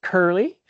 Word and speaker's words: U007D: You'll see me online in any technical online forum as U007D, pronounced Curly.